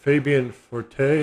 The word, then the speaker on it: Fabian Forte: could it be let's see oh there fabi fabian forte is how you say it f-o-r-t-e oh he's